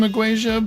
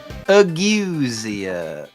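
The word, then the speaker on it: ageusia: I I would assume Auasia, but the E is before the U, so maybe not.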